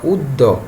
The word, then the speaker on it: অদ্য: তাহলে তোমরা খেয়াল করো, যেমন অদ্য, তাহলে অটা আছে না, অটা উ হয়ে গেল উদ্য।